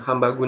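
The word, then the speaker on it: ハンバーグ: Our product was named Hambagu Nori because Hambagu is the pronunciation of Japanese people for hamburger.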